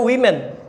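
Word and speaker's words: women: ওমেন কিন্তু singular আর উইমেন হচ্ছে plural. উইমেন্স and girls college নাম শোনো নেই তোমরা? হ্যাঁ, উইমেন্স, এটা কিন্তু উইমেন হবে উচ্চারণটা, খেয়াল রাখবা।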